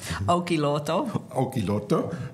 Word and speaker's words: Olkiluoto: For the Olkiluoto, you better pronounce it more correctly. Olkiluoto Power Station, which is a nuclear power station in Finland.